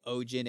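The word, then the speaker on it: Oegin: So I want to say Ojin and Nejin. That just makes the most sense to me.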